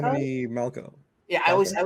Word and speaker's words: Romany Malco: with Seth Rogen and I'm blanking on it's Romany Malco. Romany Malco. Yeah, I always say his first name wrong.